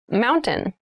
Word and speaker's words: mountain: it sounds like mountain the t sound is reduced the little town was